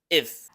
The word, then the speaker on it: if: Pero en términos fonéticos, se pronuncia como una schwa. Este sonido vocálico pequeño con una F al final. F como del español. If.